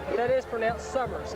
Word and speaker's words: Summers: suers on the stop that's pronounced sers s o m m e r suers Summers it's Jay Summers uh fathers summers oh